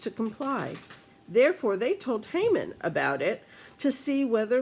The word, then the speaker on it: Haman: here we meet haman as some people pronounce it human and actually there's a